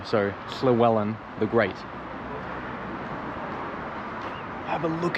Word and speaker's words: Llywelyn: the Welsh were, like Llewellyn or Llywelyn the Great. Welsh is quite tricky. When there's a double L, it's like pronounced, which is hard for me to do. So Llywelyn the Great.